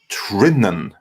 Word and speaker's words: Trinnan: For your information, I pronounce it Trinnan, like Triforce." So Trinan.